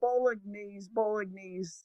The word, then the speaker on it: Bolognese: My daughter was making bolognese. How do you say bolognese sauce? Is it bolognese? I think bolognese. You're close. Bolognese.